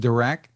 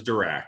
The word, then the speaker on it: Dirac: you're using in this called, I think it's pronounced Dirac. The headset that I have on, or the audio? Is that in the Cleer Alpha? No, in the Cleer Alpha is Dirac.